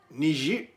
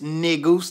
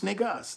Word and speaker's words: Negus: So what they don't Negus is not pronounced Niger, you know what I'm saying? It ain't got that French shit. It's Negus Negas.